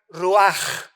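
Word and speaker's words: רוח: Y cuando vemos nosotros la palabra hebrea que se tradujo para vientos es la palabra hebrea ruch con ch al final que se pronuncia ruaj que se traduce espíritu.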